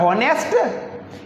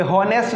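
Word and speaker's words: honest: हॉनेस्ट। ये हॉनेस्ट नहीं है दोस्तों, यहाँ पर एच साइलेंट है।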